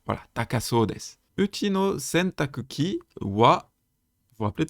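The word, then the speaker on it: 洗濯機: Je rappelle, sentakuki, parfois prononcé sentaki, la machine à laver.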